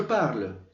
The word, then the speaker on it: parle: Las primeras personas, el yo, tú, el il y por supuesto la última persona, suenan exactamente igual. Es decir, la terminación solo es una marca gráfica. Fonéticamente no se pronuncian.